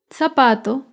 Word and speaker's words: zapato: Zapato se acentúa en la penúltima sílaba, pero no lleva tilde porque termina en vocal.